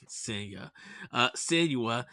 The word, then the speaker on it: Senua: Even Hellblade 2, Sienna Saga, um, Senua. Senua. Sorry, Senua.